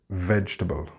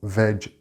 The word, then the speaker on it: vegetable: Now the G sound here is a little difficult to write phonetically. I didn't add the E to the veg sound because that is the reason most Spanish speakers mispronounce this word. The E is only there to make a J from the G. It is not a separate syllable.